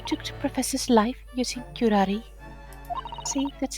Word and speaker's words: curare: It was I who took the professor's life using curare. See, that's how it's pronounced.